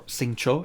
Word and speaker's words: Xingqiu: And we have Xingqiu, or Xingqiu as they pronounce him.